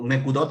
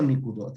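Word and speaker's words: נקודות: Un Sefer Torah, que es un rollo de la Torá, se escribe sin vocales, o nekudot o nikudot, algunos le dicen de las dos formas.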